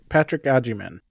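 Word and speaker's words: Agyemang: It's Patrick Ajiman.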